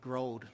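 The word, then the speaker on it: Gearóid: The the McCarthy concert broad and uh remember we all wondered about pronouncing his name right because it spelled like geroid. So uh but uh Howie had said to me, councelor Dwire said to me that uh he's like growed like growed up.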